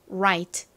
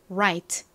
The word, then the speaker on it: right: 발음하고 방금 전에 배운요 r g ht n right right 이렇게 발음을 합니다 자 두 개 한